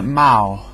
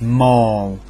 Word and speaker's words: mall: And well, for example, the mall, some people call it Mao. And I have no idea where they get mal from. It's mole. Mole ends in a L as in O and call and fall and tall mall.